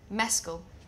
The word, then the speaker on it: Mescal: I'd like you to pronounce my Because last name. apparently I got it wrong. Mescal.